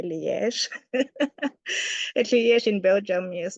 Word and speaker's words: Liège: Yes, in English you can say Liège, yeah, but in French they pronounce the E as a yeah, so it's a Liège.